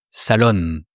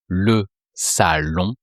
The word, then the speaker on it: salon: So here it's the living room in French, le salon. And you don't pronounce the N of salon. It's just the sound on.